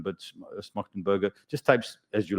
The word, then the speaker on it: Schmachtenberger: So Daniel Schmachtenberger, that's how you pronounce his name. He's yeah, Schmachtenberger.